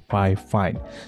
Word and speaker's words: Fifine: Tapi pronounce yang benar adalah Fifine.